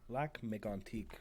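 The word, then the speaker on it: Lac-Mégantic: we're talking about the let's pronounce this correctly because it's French the what would help make antique right yeah black Mig antique rail disaster which was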